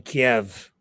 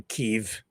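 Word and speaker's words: Kyiv: of a Russian missile hitting a highrise in Kiev or keev depending on how you view Ukraine which way you choose to pronounce it and here's what that's that looks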